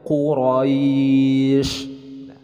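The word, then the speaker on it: قريش: Ini adalah huruf qaf, dibacanya Quraisy.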